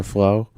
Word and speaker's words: Flowe: We'll go with the Flowe. Go with the flow. But that's a silent E at the end. Flowe.